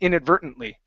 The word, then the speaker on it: inadvertently: here let me um let me give you the T sounds uh when I say it I I I get rid of the te's I say inadvertently okay so but uh